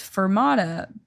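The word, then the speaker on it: Furmata: name of mine worse it's fermata but it's spelled with the U like f-u-r because the mascot is a husky so then it's like a fur Mata which like doesn't really work oh unless you know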